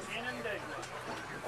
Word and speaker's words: Canandaigua: On how do you pronounce this lake? Canandaigua.